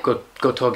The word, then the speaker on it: Gotouge: Is that how I pronounce that? Yeah. Gotouge, yeah.